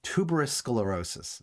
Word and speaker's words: tuberous sclerosis: times the risk of I can never pronounce this. I always want to say tuberculosis. Tuberous sclerosis. Tuberous sclerosis is an ailment where